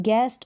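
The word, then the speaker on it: guest: फिर देखें यहाँ पर गेस्ट और गैस, यहाँ पर भी यू जो है, गेस्ट और गैस में यू साइलेंट है, यू और ई का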